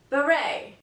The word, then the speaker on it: beret: can be pronounced often beret and in this case it is because it's a French word if you find a French word used in English and this word ends in the letter T don't say the T Chevrolet whistle bustle and